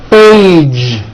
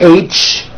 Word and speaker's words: age: Age. It's not H, it's age with a voiced ending.